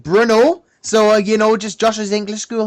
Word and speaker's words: Brno: Brno for the 14th of August. I know I've pronounced that wrong. So it's actually pronounced Bruno.